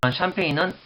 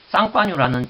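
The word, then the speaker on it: Champagne: 나중에 또 설명했지만 샴페인은 프랑스 쌍파뉴라는 지역이 있습니다. 쌍파뉴 지방에서 나는 그 스파클링 와인을 가지고 영문식 발음을 해서 샴페인이라고 합니다. 쌍파뉴 지방에서 나는 쌍파뉴, 샴페인, 쌍파뉴.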